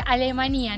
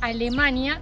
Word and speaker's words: Alemanía: pueblo de alemanía y se pronuncia alemanía no Alemania No me pregunten Por